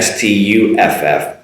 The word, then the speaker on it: stuff: That's an sound, like an umbrella or hut, Pizza Hut.